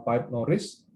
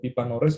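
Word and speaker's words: Pippa Norris: Misalnya adalah tokoh ilmuwan politik bernama Pipe Norris atau Pipa Norris ya bacanya.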